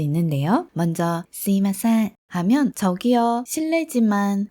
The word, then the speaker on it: すみません: 먼저 스미마셍 하면 저기요, 실례지만 좀 이런 느낌으로 하는 말이에요. 그런데 여기 이 스미마셍을 발음할 때 사실 여기 이 미 부분이 거의 이처럼 스이마셍 이렇게 하는 경우도 많이 있어요.